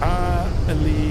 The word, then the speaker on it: Alicante: Apparently it's pronounced this Alicante. Yeah, so I'm saying it right.